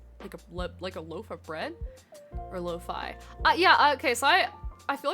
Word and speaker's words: lo-fi: Lo-fi rhymes with pie.